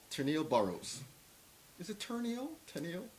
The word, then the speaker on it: Terneille: Well, we Bahamians. True. We don't pronounce R's. Okay. We add R's at the end of words that they don't belong on to sound proper, like Mona Lisa. But we don't pronounce R's that should be pronounced.